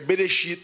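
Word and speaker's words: בראשית: A pronúncia de Gênesis é Bereshit em hebraico.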